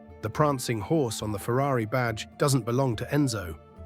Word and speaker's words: Ferrari: Americans say Fu-ra-e, swallowing the R. Italians roll it Ferrari, with a growling double R.